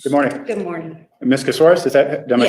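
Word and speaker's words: Casarez: Casoris, am I saying it right?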